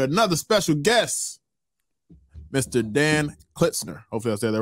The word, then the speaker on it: Klitsner: mal with another special guest mr dan klitzner hopefully is that right listener you did it